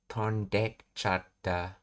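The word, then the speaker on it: 飛んでいっちゃった: In rapid natural speech, the vowel sound at the beginning of ichata is often dropped entirely and is attached to the verb in the te form. So tonde ichata becomes tondekchata. The e sound is swallowed.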